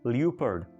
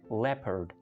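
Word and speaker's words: leopard: चीते को इंग्लिश में लोग कह जाते हैं ल्यूपर्ड, क्योंकि LEO, लियो, लेकिन इसकी करेक्ट प्रोनाउंसिएशन है लेपर्ड, लेपर्ड, लेपर्ड, राइट।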